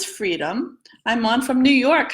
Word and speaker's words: Freedum: First, I want to mention the name of this pattern is Freedum and pronounces freedom.